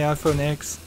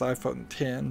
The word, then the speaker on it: iPhone X: really video game related although I imagine the iPhone x or what's supposed to be pronounced iPhone 10 but I'm gonna call it the iPhone x